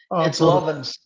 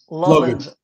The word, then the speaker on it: Lovins: Is it pronounced? Lovins. Lovins.